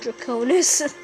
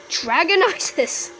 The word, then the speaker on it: Draconis: In fact, I couldn't even pronounce the word Draconis. I used to say Dragonitis.